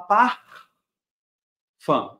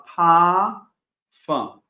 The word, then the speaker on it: Parfum: r do pafan não o que acontece no alemão sempre que eu tenho uma letra R antes de uma consoante ou no final da frase ela é pronunciada como se fosse uma letra A então aqui eu não vou falar par fã eu vou falar pa fã tá para quem ainda